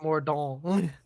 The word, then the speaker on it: Mordaunt: I'm assuming that's pronounced Mordon.